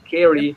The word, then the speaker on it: Kerry: Kerry, you pronounce it with an E, Kerry, like that, right?